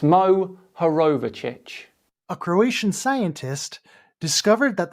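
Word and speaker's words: Mohorovičić: moho in 1909 Andrea moar rashish even when there is a phonetically spelled word clear for anyone to see Kyle still gets it wrong it's Mo herovic a Croatian scientist discovered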